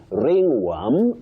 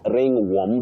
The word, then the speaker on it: ringworm: You also say ringorm, not ringworm. the way many people say it innocently.